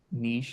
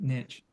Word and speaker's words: niche: That's, 2/3 pronounce it like I do with niche, and another third pronounces it niche.